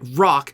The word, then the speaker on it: Roc: stuff well what if we named it rock but spelled with only a c you see it's funny